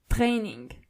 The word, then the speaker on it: Training: The German version of it is Training. So you only have to roll your R.